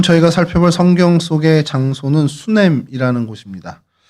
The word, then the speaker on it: 수넴: 오늘 저희가 살펴볼 성경 속의 장소는 수냄이라는 곳입니다. 어, 수이 히브리어로 슈냄 그니까 뭐 발음이 거의 같다라고 보시면 되고요.